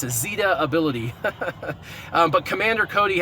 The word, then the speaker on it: Zeta: Well, if you know the actress Katherine Zeta Jones, that's how you pronounce Zeta. The E is strong because it's followed by a consonant and a vowel. So, it's it's Zeta.